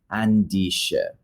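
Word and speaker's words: Andisheh: pronunciation because I totally guessed it the correct pronunciation is andish andish andish is um and I've been going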